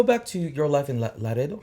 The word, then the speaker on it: Laredo: So let's go back to your life in Laredo.